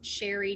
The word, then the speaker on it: Sheri: is simple it's under my name which is sherry it's spelt differently it's s-h-e-r-i and then so